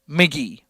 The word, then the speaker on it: Mk.gee: I can't play him on the show right now because it's copyrighted, but it's it's spelled MK. I mean, this is old news by this point, but MK.Gee McGee.